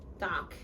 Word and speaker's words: talk: Cuando tenemos un verbo como este, walk or talk, no se pronuncia la N. Se pronuncia solamente walk, talk.